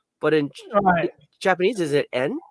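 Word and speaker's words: 円: But if you ask Japanese people to pronounce the word individually, it would always be en.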